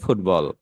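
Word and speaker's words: football: বাট আমাদের brain এটা ভুলভাবে ক্যাচ করতে পারে যে ও আচ্ছা, এখানে টিবি আছে তাহলে বি সাইলেন্ট, তাহলে এটা হলো ফুটাল। হ্যাঁ, ফুটাল। তাহলে না, এটা আসলে ফুটবল।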